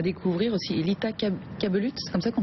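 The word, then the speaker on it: Lita Cabellut: Lita Kabelut, c'est comme ça qu'on prononce ça? Lita Kabelut, absolument.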